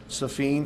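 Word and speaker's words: Safien: First name is Safeen. That's how he pronounces it.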